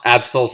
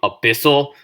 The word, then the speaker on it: Absol: I was a kid I pronounced Absol's name abyssal because I sucked at pronouncing and stuff. I I didn't know how to read. I knew how to read. I just didn't read the card properly and I didn't think to pronounce it. Absol. So, I'm like a Abyssal Aol. Like, I thought it was had three syllables, not two or whatever.